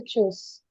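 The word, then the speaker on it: Tschüss: এটার উচ্চারণ হচ্ছে চুস।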